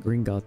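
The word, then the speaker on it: Gringotts: it green gut gringut they pronounce it gringut though yes chat I worry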